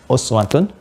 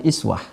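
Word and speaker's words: أُسْوَة: Ini bisa juga dibaca dengan iswah. Ada dua cara membacanya. Ini kasrah. Kasrah. Ini dibaca lewat riwayat Warsh, juga Qalun dari Imam Nafi'. Ya, laqad kana lakum fi Rasulillahi iswatun hasanah. Pakai kasrah. Sekarang perhatikan mukjizat Al-Quran, ya,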